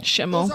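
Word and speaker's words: Schimel: Shimmel. That's how you pronounce it.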